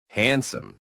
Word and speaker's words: handsome: Handsome. Handsome. Handsome. No strong D sound, just soft and sneaky.